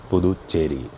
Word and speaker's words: Puducherry: But it's not Puducherry, Puducherry, or whatever else you're pronouncing it as. Puducherry.